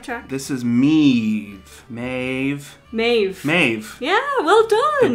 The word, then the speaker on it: Maeve: maeve yeah well done the bh is so hard for me to understand as a v it just doesn't make sense to me which you can also spell in english m-a-e-v-e maeve yeah yeah yeah we